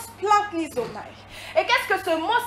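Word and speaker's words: splanchnizomai: Pour ceux qui prennent des notes, je répète, S-P-L-A-N-C-H-N-I-Z-O-M-A-I, qui se prononce splanknizomai.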